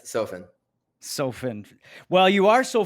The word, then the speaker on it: Sofen: Sometimes mispronounced Sofen, but yes, Sofen.